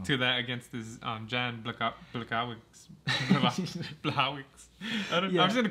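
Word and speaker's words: Błachowicz: It says it's spelled Blachowicz, but yeah, it's like Blachowicz or yeah, Blachowicz. Yeah, something like that. Since he's Polish, it's pronounced differently.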